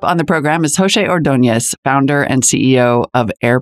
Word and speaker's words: Ordonez: mark next up on the program is jose ordonez founder and ceo of air pals welcome poshe